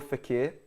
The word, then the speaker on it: Fekir: Rara says Nabil Fekir.